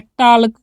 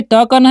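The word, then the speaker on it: talk: कैसे, इसे पढ़ लेते हैं टाल, जो कि होता है गलत। टी से ट करना है, ए का उच्चारण करना है ओ, ठीक है, क्या करना है ओ। और यहाँ पर जो एल दिख रहा है ना उसका उच्चारण ल नहीं करना, उसका करना ही नहीं है, सीधे के से क कर देना है, तो हो गया टॉक।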